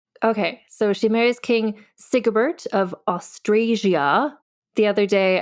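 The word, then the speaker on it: Sigebert: do you say it I say it's sigbert but here's the thing so for you and for all listeners even in their lifetimes there are varying pronunciations of the same name so like if you're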